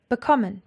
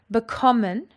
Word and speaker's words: bekommen: Bekommen has got its emphasis on the second syllable.